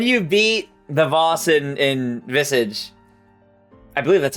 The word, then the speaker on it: Visage: So, when you beat the boss in Visage, I believe that's how you pronounce it. You can call me out anytime I mispronounce something. That's totally fine. I used to English visages, but it would be visage.